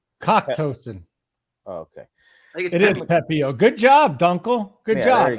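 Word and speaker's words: Pepiot: It is Pepio.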